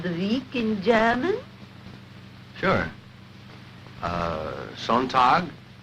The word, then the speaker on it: Sonntag: That is good, but pronounce the words broader, so Sonntag, Montag, Dienstag, yes?